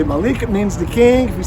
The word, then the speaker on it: Malik: name is very simple one name rhymes with the week and that's Malik and my last name